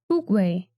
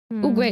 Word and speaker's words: Oogway: Next character, Oogway.